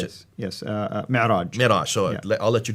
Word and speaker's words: Mi'raj: But that's where called the Miraj. How do you pronounce it? Yes, Mi'raj.